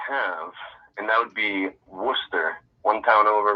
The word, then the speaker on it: Worcester: I have, and that would be Worcester. One town over, right? One state over, Worcester, Massachusetts. Mm-hmm. It's spelled Worcester.